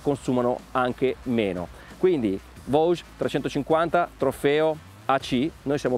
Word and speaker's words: Voge: Il nome corretto, come da sito ufficiale, è Vosges, si pronuncia così anche se tutti dicono Vosges, Trofeo 350 AC, dove